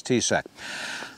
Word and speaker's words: TCEK: swivel portable chair from the company tset t-c-e-k that's my best pronunciation is t-sac uh it's heavy all